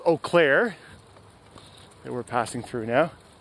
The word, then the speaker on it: Eau Claire: This area is called Eau Claire, that we're passing through now. Eau Claire is spelled E-A-U, Claire.